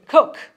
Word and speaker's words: Coke: and Thomas Coke C cook it's spelled Coke isn't it yeah but it's pronounced cook because they have peculiar